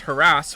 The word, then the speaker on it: harass: Once upon a time there were gales of laughter when Frank Spencer and some mothers do Avon pronounced harass with the emphasis on the second syllable.